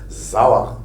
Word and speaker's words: Sauer: S plus voyelle, c'est un Z. Sauer.